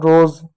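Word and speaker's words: rose: तो आप एक और एग्जांपल देखिएगा आर ओ एस ई ओ आया ओ के बाद एक कोसोनेंट है इ है तो इ साइलेंट होगा आर का र लिख दो ओ का ओ की मात्रा लिख दो एस है तो यहां पर ज हो जाएगा हो जाएगा रोज अब कैसे पता लग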